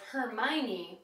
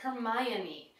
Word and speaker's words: Hermione: This one is a little bit tricky because you actually do pronounce the O. I always thought it was Hermione, but it's actually Hermione. So when you're talking about her name, that's how you pronounce it.